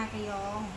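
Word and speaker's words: 나경: เปล่า นากยอง เ อ่าน เ อ่าน ว่า นากยอง แล้ว ก็ ชีฮอน โอเค ชื่อ ด้อม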